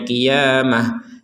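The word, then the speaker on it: قيامة: Ada di sini kita bacanya qiyamah. Ini huruf ta yang bulat. Ta yang bulat ini kita barusan membacanya dengan huruf ha. Kenapa kita baca dengan huruf ha? Karena kita berhenti di sini.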